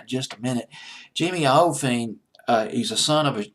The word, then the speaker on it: Iovine: I believe that's how you pronounce it. Iovine. I believe is how you pronounce his last name. He's worked with loads of people. I'll go into the roster just a little bit. Jimmy Iovine.